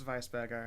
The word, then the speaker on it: Weisenberger: I auto corrected it's Vice burger and it's Vice yeah okay uh she's American she's not going to pronounce it like that she's going to say Vice Burger um ah I mean